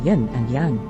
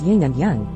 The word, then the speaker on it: yin and yang: one reasonably citable reference take a term rendered in a foreign language let's say yin and yang have people start mispronouncing and the spelling it as ying and yang bring in a slang